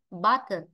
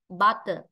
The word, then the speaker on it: butter: Ta đọc rất bình thường, butter, butter. Nghe âm bát rất là rõ cơ mà, nên bát là trọng âm rơi vào nó, nên ở này là ở ngắn.